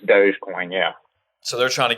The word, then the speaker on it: Dogecoin: with dogecoin today right how you pronounce it yeah like dog coin yeah or whatever basically is it but it's dogecoin yeah so they're trying